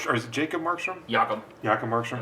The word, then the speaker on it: Jacob: is it Jacob markstrom yakob yakob marrom I think Yak it's just not spelled like most yakob I think it's yakob 299 Patty Kane to